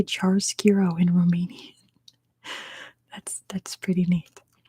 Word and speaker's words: chiaroscuro: That might be how you say it in Romania, but it's chiaroscuro.